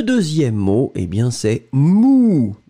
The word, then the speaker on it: mou: Le deuxième mot, eh bien, c'est mou. Et le son, c'est vraiment ou, ou, ou, ou.